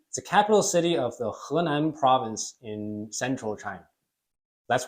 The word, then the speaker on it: Henan: It's a capital city of the Henan province in central China.